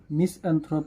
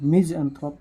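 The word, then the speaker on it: misanthrope: यहाँ पे हम लोग मिसएंथ्रोप नहीं पढ़ते हैं, मिज़एंथ्रोप पढ़ते हैं और इसको मिसोजिनिस्ट।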